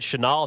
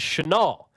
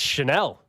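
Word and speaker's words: Chenal: place there you go someone says isn't it Channel no no no we've had this discussion before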